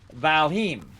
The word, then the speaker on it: Valheim: called ballonite uh and it's not really called Valentine by the way uh it's valheim or valhim is actually how you say it uh and uh